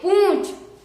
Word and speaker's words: पूंछ: video जरूर देखिएगा दोस्तों यहां पर चंद्र बिंदी लगी हुई है यानी कि यह अनुनासिक है यानी कि हम इसे पढ़ेंगे पु यानी कि इसमें हम पु का उच्चारण तो गले से करेंगे और जो चंद बिंदी है उसका उच्चारण नाक से करेंगे तो यह लिखा हुआ